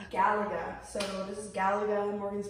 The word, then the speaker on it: Galaga: Galaga. Galaga.